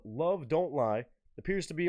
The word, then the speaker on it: Evol: is a song called Love Don't Lie appears to be on a project of some sort that's titled EV o l perhaps pronounced love but I'm going to say Evol um badass artwork no